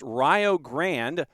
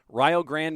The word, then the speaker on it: Rio Grande: And yes, it does look like Rio Grande, and that's that's kind of how, like I said, that is how it looks, but that is not how it is pronounced. Rio Grande made their way to